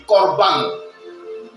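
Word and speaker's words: קרבן: Et quand on veut traduire littéralement, corban, ça ne s'écrit pas avec C comme tu as vu, mais ça s'écrit avec Q-O-B-A-N. Selon la transcription directe de l'hébreu. Et dans la transcription directe de l'hébreu, on dit corban.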